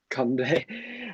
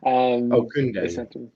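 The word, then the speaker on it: Kounde: The Sevilla Kunde. I can't pronounce his name right. It's my accent. Kunde. Kunde.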